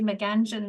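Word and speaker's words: Meanjin: of Brisbane um uh mein you'll recognize from um you know an important cultural magazine of the 20th century Mangan seems to be emerging as the new um more correct pronunciation um but we are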